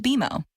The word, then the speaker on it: BMO: Don't worry, it's more common than you think, but we actually pronounce it BMO.